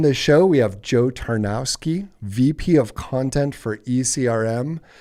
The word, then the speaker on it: Tarnowski: Tarnowski.